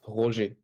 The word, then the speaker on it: Roger: Well, with the French accent, it's Roger. But you can call me Roger. I mean, it's totally fine.